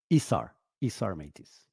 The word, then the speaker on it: Isar Meitis: Isar Meitis.